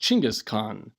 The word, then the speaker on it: Chinggis Khaan: Mugen who was called genghis khan sometimes pronounced Chinggis Khaan meaning universal ruler starting